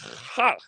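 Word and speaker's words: Х: We are that letter is pronounced Ha in Russia.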